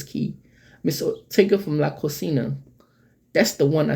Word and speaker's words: cocina: Cocina. Yeah, Cocina. That's how they pronounce it.